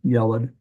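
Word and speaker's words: ילד: This is the only one we'll have to say a boy child, yelad. Notice the accent is on the first syllable.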